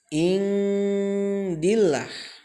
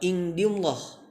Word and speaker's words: indillah: Nah, ini bacanya bukan indillah. Ingat, yang ini kasrah menghadapi lafaz Allah, bacanya bukan indillah tapi harus dibaca indillah. Sekali lagi, indillah. Ingat-ingat, bukan dibaca tebal tapi harus dibaca tipis.